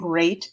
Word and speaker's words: great: Watch out for meat and great and threat. So again, they all look the same. Watch out for meat and great and threat. They rhyme with sweet and straight and debt.